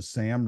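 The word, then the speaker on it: Sahm: One is the SAM rule. It's named after an economist named Claudia Sam, S-A-H-M. I may be pronounced, it could be Sam.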